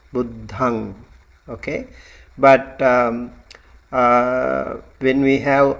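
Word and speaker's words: buddhaṃ: And these are like buddhang. It's like a nasal sound, and you don't really close your lip when you say like Amrut. I heard him pronouncing like buddham. You don't have to close your lip, you have to open it, buddhang.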